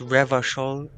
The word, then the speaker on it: Revachol: Revachol is pronounced Revachol.